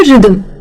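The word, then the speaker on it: rhythm: एच जो है वो साइलेंट ही है। इसीलिए हमें शांति से कहना है रिदमम।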